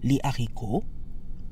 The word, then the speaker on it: les haricots: The S in les stays silent because the aspirated H in haricot follows the same rule as other words that start with a consonant.